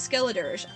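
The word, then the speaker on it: Skeledirge: like 10 times and I never knew how to say his name correctly it is skilletors those are on the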